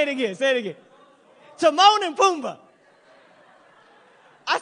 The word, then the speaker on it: Timon: Timon and Pumbaa.